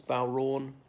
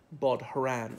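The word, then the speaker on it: bodhrán: that one's in usage very much anymore as bow wrong as in that's a special musical instruments okay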